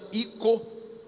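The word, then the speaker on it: οἶκος: o significado desta palavra vem do grego oikos se escreve oikos mas na verdade se pronuncia i co que a casa inovamos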